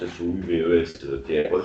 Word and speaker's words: Souvestre: L'un s'appelle Allain, avec 2 L, et l'autre Souvestre, comme ça se prononce, S-O-U-V-E-S-T-R-E, Souvestre.